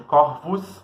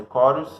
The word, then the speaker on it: Corus: né, que é Lúcifer, Corus, que algumas pessoas chamam de Corvus, mas é Corus a pronúncia, Saturnus, Libitina, entre outros, tá?